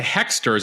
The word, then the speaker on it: Hoexters: Headed to Hexter's, is a restaurant on the Upper East Side we just discovered as we learn about our neighborhood. So Hexter's is spelled Hoexters.